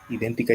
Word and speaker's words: idéntica: Idéntica lleva tilde, aguda, drula y sí, idéntica.